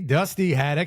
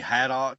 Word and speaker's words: Dusty Haddock: I am here with the one and only Dusty Hadock.